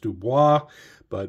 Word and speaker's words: Dubois: And there was one, Mike Dubois, I believe is how he pronounced his name. I know it's also pronounced Dubois. But Mike Dubois, who is